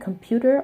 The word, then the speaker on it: computer: I speak English we the variety of English that I speak we pronounce the R like computer and this sound is